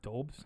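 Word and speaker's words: Doubs: How do you say it? Dobbs? it's Dobbs. Yeah. Dobes?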